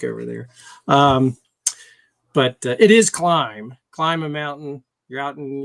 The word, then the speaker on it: Klim: pipe on it, Kropovich, however you want to pronounce it. Yeah. Climb.